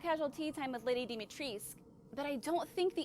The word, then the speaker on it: Dimitrescu: Dimitrescu is how you pronounce that.